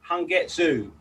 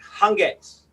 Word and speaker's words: Hangetsu: t s u so a lot of people say han getsu but that that u is silent so it's like hungers hunger is the correct